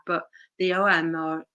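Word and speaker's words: ogham: about the OM um it's pronounced differently according from uh where you are but the OM or o g h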